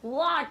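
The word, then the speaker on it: what: के बाद वाला ह आप जैसे यहां पर लिखा हुआ है वॉट और इसकी स्पेलिंग है व ह ए टी कुल मिला के व के बाद ह रहा है तो यहां पे ये ह चुप रहेगा ऐसे नहीं पढ़ेंगे कितना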